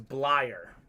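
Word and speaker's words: Bleier: you todd blyer blyer i knew it was blair actually it's funny because i looked up how to say his name and it was blyer that is correct blire is a beast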